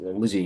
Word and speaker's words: Lzzy: So apparently it is Lizzie Hill. It is Lizzie Hill, okay. But it's spelled Lzzy.